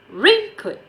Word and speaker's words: raincoat: And then we have raincoat. So the stress is on the word rain.